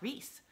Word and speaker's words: Rhys: of a cool name rice right so the whole time i i read it um i thought his name was rice but um apparently it's pronounced rhys so then i had